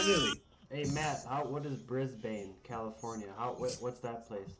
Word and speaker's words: Brisbane: Brisbane. Maybe I might be saying it wrong. It's BRIS. Are you saying V like Victor or B like Bravo? B, bravo. Brisbane.